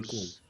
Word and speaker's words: clothes: About the Clothes. Clothes. One Clothes. syllable. Clothes. Clothes.